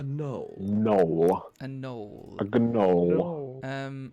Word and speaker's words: gnoll: A gnoll. No. Like a Noel Edmonds. No, Yucky. is it a gnoll? Just like a gnoll, yeah. Gnoll. It's actually pronounced knoll.